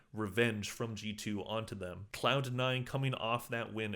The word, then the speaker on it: Cloud9: now in past videos I say cloud n too fast I it sounds like clown n I'm just saying clown